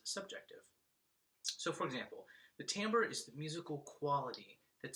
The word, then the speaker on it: timbre: it would be - timbre but it is pronounced Tambor almost like it should be spelled t am ber and the other one